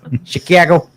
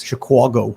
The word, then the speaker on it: Chicago: guys from the city they'll go like chicago it's chicago the yeah they'll they they do not pronounce it like chicago no it's the yeah yeah like chicken chicago a is the a sound yeah yeah to do